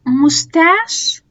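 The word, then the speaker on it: mustache: والثلاث كلمات دولت بتتنطق شه لأن هم متاخدين من أصل فرنسي. يعني أنا هنا بقولها ماشين، أوكي، مستاش وشيف.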